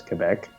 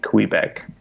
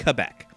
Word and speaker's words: Quebec: second lowest all righty how do uh Canadians pronounce Quebec uh anyone who knows how to say it says Quebec uh my parents and others have been known to say Quebec much to my sugrin yeah I always T